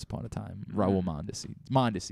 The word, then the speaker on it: Mondesi: a time raul monday monday is how you say that one i don't know all